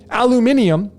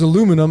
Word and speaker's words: aluminium: all the same thing so this alum uh aluminium otherwise pronounced as aluminum as i always called it ever since i